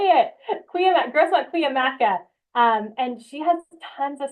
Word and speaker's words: Cuyamaca: It's Grossmont, Cuyamaca. Cuyamaca, thank you. I even looked up how to say it. Grossmont Cuyamaca.